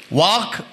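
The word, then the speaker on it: walk: ಬರೆಯೋದಕ್ಕೂ ಉಚ್ಚಾರಕ್ಕೂ ವ್ಯತ್ಯಾಸ ಇರುತ್ತೆ ವಾಕ್ ಅಂತೀರಾ ಕುಡ್ ಅಂತೀರಾ ವುಡ್ ಅಂತೀರಾ ಅಲ್ಲಿ ವಾಕ್ ಅಂದಾಗ ಡಬ್ಲ್ಯೂ ಎಲ್ ಕೆ L silent ಆಗುತ್ತೆ ನೀವು ವಾಕ್ ಅಂತ ಕನ್ನಡದಲ್ಲಿ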